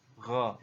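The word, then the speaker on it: غ: Diucapkan seperti kita kalau mau mengucapkan huruf Kha gitu ya, yaitu dari pangkal tenggorokan kita, dan yang membedakannya adalah Kha itu mengalir nafas, sedangkan Gha tidak mengalir nafas seperti itu ya.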